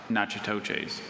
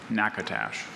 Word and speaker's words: Natchitoches: A Caddoan confederacy of northeastern Texas and southwestern Arkansas, including the Cahinio and upper Natchitoches. Could you please repeat the word? I'm sorry, that's Natchitoches. So I mispronounced that.